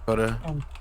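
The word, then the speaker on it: Navi: I forgot your name na'vi na'vi na'vi like the like the fairy from Zelda yes let's go I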